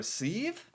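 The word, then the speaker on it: syv: the Norwegian language um the number seven you can say it two different ways or is that like for different dialects or I'm a little confused there's two ways to say seven okay you can choose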